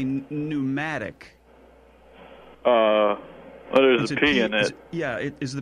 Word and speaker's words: pneumatic: I think I think you're trying to say pneumatic uh other's yeah is the P first silent it's a silent P yeah it's it's pneumatic oh all right um okay we go on